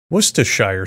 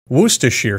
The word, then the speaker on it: Worcestershire: of a tongue twister worcestershire sauce worcestershire sauce was to sure sauce all of these pronunciations are acceptable as are the endless